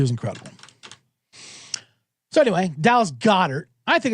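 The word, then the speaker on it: Goedert: Dallas Godert. I pronounce it Godert because that's what I do.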